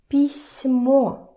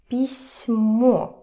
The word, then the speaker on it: письмо: Try to hear the difference. If I say it without the soft sign, письмо, письмо, and with the soft sign, письмо, письмо, right? You hear that?